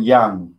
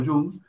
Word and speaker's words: Jung: gustav jung carlos yum yo sé que algunos pronuncian yang como si fuera yang como si fuera joven en inglés pero young yoo en alemán carl gustav jung carlos gustavo yum el discípulo de freud